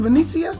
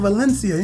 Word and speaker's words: Vencia: miss that's a pronouncing Vinicius yes sir why was I saying elincia you might mess that up yeah ain't no L in there whatsoever and what does you